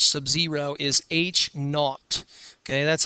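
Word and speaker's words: H₀: the hypothesis labels and the way that you pronounce this H Subzero is H not okay that's how you say it h not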